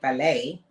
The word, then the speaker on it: ballet: I said yeah but so does the word ballet ballet has a te at the end and it's not called ballet and the man tried